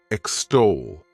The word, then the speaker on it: extol: The next verb is extol. To extol, this word has 2 syllables, and the stress is on that second syllable.